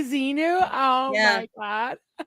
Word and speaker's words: Xenu: down to mispronouncing the words. So she gets her to say Xenu. Oh my God. Like Xanu? Xanadu? You mean Xenu?